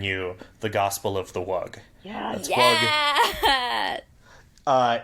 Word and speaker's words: wug: I'm here to bring you the Gospel of the Wug. Yeah. That's yeah. Wug. It's spelled W-U-G, and it is sort of an